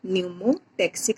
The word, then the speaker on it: pneumotactic: here P is silent, we call it pneumotactic center. It is present in the pons region of the brain.